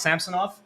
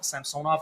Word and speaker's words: Samsonov: a note right now it's pronounced samsonov based on what he said in the in the video the leaves posted so I've been calling him sonov all summer so yeah gotta put